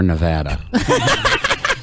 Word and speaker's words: Nevada: We're Nevada.